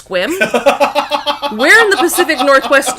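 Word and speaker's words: Sequim: my bestie had this pen that said uh squim Lavender Festival and this person stops on looks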